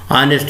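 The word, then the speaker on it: honest: ऑनेस्ट में ये silent है, नॉक में के साइलेंट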